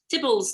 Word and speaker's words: Theobalds: They bypass London briefly, and then they go to Theobalds, and then they're back in London, proper London.